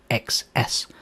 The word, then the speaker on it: xs: the list to the name XS which is pronounced as x's and is the usual convention